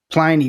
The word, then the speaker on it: Pliny: a tiny Pliny, but Pliny rhymes with piney, which is that big